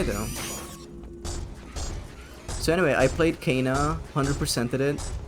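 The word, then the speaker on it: Kena: You might like Ka Bridge of Spirits. It's spelled key K E N A.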